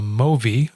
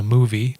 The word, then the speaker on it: Movi: this and this is called the movi or the movie depending on how you want to pronounce it it's m-o-v-i I suspect they want to call it movie but it looks like movie I like movi better yeah well it could